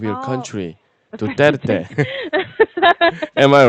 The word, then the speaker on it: Duterte: Duterte. Am I right Oh, about yes, yes. pronounce? Yeah. Yeah, Duterte.